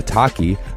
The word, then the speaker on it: Otaki: project sick Bro and the otaki rhymes with suaki is an aggressive high